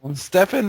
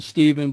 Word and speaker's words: Stephen: welcome to the show thank you very much Stephan or Stephen because I hear some people call you Stephen okay well it's it's it's I like the pronunciation Stephen but it it could be Stephan I mean